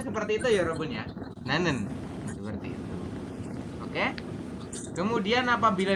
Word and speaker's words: 나는: Dibacanya apa ini? Berarti adalah 나는. Nanen.